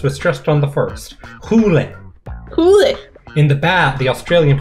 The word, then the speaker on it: Hole: to hill in english the word is pronounced as two syllables we're stressed on the first hulen in the bath the australian police call him harry holy which is way worse